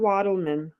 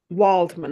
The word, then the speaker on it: Waldman: not sure how but Anne WLAN has kind of made um made a thing you know what I mean Waldman I'm saying her name wrong okay she's only 79